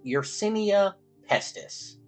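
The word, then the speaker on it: Yersinia pestis: scientific name of but I believe it is pronounced urenia pesus AKA The Black Plague and this bacteria was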